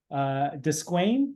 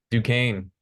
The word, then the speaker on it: Duquesne: Desquain, how do you say Descain? Duquesne.